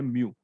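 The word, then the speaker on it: μ: इसका प्रोनाउंसिएशन है म्यू।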